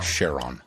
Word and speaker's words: Charon: Charon? Sharon. Charon. Yeah, I did it right. Sharon. Sharon. Charon? Sharon. Charon? Who does here's the key. Who discovered it? It was Sharon.